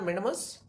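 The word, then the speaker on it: mandamus: आप वैसे भी देख लीजिए, मैंडेमस इंग्लिश में कहते हैं मैंडेमस, इसका सही प्रोनाउंसिएशन है मैंडेमस, और उसके बाद परमादेश हिंदी में कहते हैं परमादेश।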